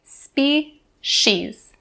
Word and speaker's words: species: word species species now even though this word is spelled with the c we don't say species species we'll say spi she's species and for the last